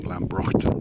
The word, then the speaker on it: Lambroughton: the distance here is East Lamberton Farm the old pronunciation being lambron this is looking down